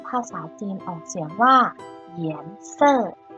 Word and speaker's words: 颜色: สี ค่ะ สี ภาษา จีน ออก เสียง ว่า เหยียน เซ่อ เหยียนเซอร แปล ว่า สี ค่ะ มา เริ่ม คำ ที่